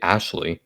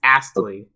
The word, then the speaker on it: Astley: the why do you say ashley yeah it's astley what are you doing i thought you were